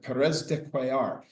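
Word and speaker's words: Pérez de Cuéllar: she spoke some Spanish, how to pronounce the secretary general from Peru. And she said Perez dear.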